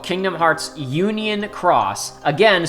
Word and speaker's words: χ: So the second season is called Kingdom Hearts Union Cross, again spelled with the Greek letter Chi.